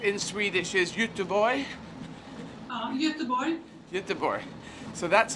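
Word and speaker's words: Göteborg: i start i was playing gothenburg yeah which pronounced in swedish is you two boy um so that's how it's pronounced in actual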